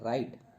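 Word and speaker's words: write: एक देख लेते हैं राइट राइट में व जो है यह साइलेंट लेटर और रिस्ट में व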